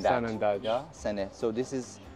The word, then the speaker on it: Sanandaj: Sene, you remember, is the way that the Kurdish pronounce Sanandaj. Sanandaj.